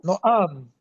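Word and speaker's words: נעם: Yeah, No am. yeah, because that's the way you distinguish the stress. The stress is on the last syllable.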